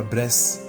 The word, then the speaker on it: Bres: A palavra Bres, em termos de grafia e pronúncia, lembra a palavra bless, do idioma inglês, que por sua vez significa bênção.